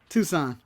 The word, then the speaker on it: Tucson: is the correct pronunciation it's toxin or Tucson Tucson Arizona Tucson Convention Center from Tucson Arizona where do you call it it's like toucan Hudson Tucson you didn't know your Tucson man